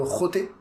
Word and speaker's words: xoté: Mais je sais pas, tu sais, au Brésil, il y a un style aussi qui s'appelle le roté. Ça s'écrit xoté.